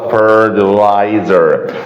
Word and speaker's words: fertilizer: انا عندي الاي والار فبنطق التي كانها دي خفيفه، عشان كده بقولها fertilizer. خلاص كده يا شباب.